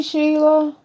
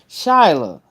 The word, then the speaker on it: Shyla: Hey, Sheila. Shyla. Because that ain't spelled like Sheila. Because yours, that's Shyla. That ain't Sheila.